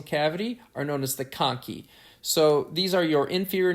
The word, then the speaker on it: conchae: here we see our middle nasal conchae or conky I should say is though the way Americans pronounce it are actually parts of your ethmoid